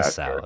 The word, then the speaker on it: Muasau: Muasau is how you say it.